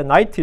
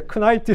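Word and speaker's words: knight: 처음에 제가 기사할 때 나이트 있잖아요. K-N-I-G-H. 난 K가 묵음인 줄 모르고 처음에 제가 배울 때 크나이트 생각했어요. 근데 영어 선생님이 그 K는 묵음이다 그러더라고요.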